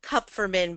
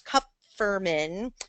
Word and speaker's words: Kupferman: Last name Kupferman, but everyone makes that mistake, so don't worry about it.